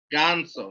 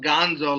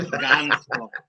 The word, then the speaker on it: ganso: Ganso, not Gonzo like you're like the Muppet Babies, but Ganso.